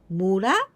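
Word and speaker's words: 村: We pronounce mura, mura, this is village, or onyomi, son.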